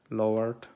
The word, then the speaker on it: leeward: It's leeward, pronounced lowered, I think. It's pronounced lowered, yeah, but spelled leeward.